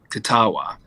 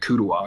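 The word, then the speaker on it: Kuttawa: it's spelled is it's k-u-t-t-a-w-a so it's with the k it's uh katawa because i kept saying when i first realized i was like calling it kudawa because i was just like i couldn't pronounce it so i just tend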